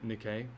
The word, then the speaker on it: Nikkei: How do you pronounce that? Nikkei.